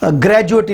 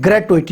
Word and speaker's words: gratuity: तो ये ग्रेजुएटी कोई लफ्ज़ नहीं है, ग्रेटुइटी होता है। इसकी स्पेलिंग है GRATUITY। ये ग्रेटुइटी होता है, ग्रेजुएटी कोई लफ्ज़ नहीं है इंग्लिश के अंदर इस तरह का मफहूम रखने वाला।